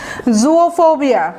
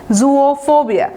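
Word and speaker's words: zoophobia: জুওফোবিয়া, এটা উচ্চারণটা কিছুটা জুও বলবেন, জু বলবেন না। জু তো আমরা জানি চিড়িয়াখানা, বাট এখানে রুট হচ্ছে জুওফোবিয়া, এভাবে বলবেন জুওফোবিয়া।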